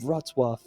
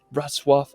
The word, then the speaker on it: Wrocław: Now, after, we're going to head over to the beautiful city of Wrocław. I mean, it's such a tricky pronunciation.